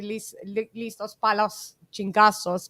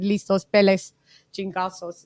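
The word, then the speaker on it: listos pa los chingazos: He was saying, he said it wrong. It's supposed to be listos palos chingazos, but he said listos peles chingazos.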